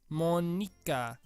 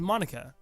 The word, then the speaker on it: Monika: Monika. That's not how you say my name at all. That's not— wait, so it's not how— so it's Monika.